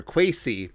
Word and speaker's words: Kwesi: With the Minnesota Vikings hiring new general manager Kwesi, got the pronunciation right, Adofo-Mensah, the path to the Vikings trading quarterback Kirk Cousins to the Cleveland Browns has never been clear.